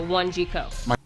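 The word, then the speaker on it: Wanjiku: My name is One Jiko, so that's like a number one, and a letter G, and co like company in one word, so One Jiko.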